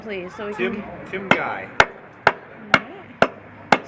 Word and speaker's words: Guy: pronunciation is Guy, the same word as Guy in French.